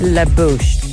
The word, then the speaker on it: La Bouche: let me start with lebouche which is french for the mouth and pronounced la bouche i think i think